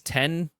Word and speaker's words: X: 8 iPhone 10 but it's an X but you pronounce it as ten okay great mid um